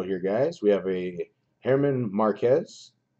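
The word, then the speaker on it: Germán: guys we have a Herman Marquez says German but I don't think that's how they pronounce it so Herman Marquez and it's a rookie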